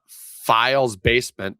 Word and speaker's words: PhialsBasement: So, recently here, a develop developer who goes by the name of Files Basement, that's spelled p h i a l s basement.